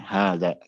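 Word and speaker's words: هذا: Hanya saja alif yang setelah ha ini tidak ditulis, tapi pengucapannya tetap harus ada, tidak boleh tidak, karena memang asalnya ada alif, hanya saja tidak ditulis, ya. Diucapkan namun tidak ditulis. Ya, hadza.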